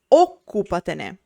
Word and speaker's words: occupatene: At last, a word is trisdrucciola when the accent is on the fifth last syllable. Same as the previous category, but even rarer. For example, occupatene, take care of it.